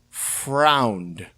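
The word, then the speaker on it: Freund: the film is Carl I believe it's pronounced frown which I think is a German a German last name it sounds German um interesting note about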